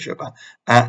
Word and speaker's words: Chopin: But no, Americans in this instance clearly do know how to pronounce things. She was Kate Chopin.